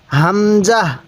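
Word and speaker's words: همزة: বলুন ওয়াও এরপরে হা দেখুন এই হা টা উচ্চারণের সময় মুখ দিয়ে হালকা আওয়াজ করবেন তাহলে হা এরপরে হামজাহ এই হরফটির নাম হলো হামজাহ অনেকেই আমরা এই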